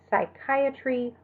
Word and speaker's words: psychiatry: A PS at the beginning of a word is pronounced only with the S sound, so psychiatry or psychology.